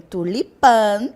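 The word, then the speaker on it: tulipán: tela natural que embeleza a paisagem então tenho tulipan em espanhol e Tulipa em português nosso próximo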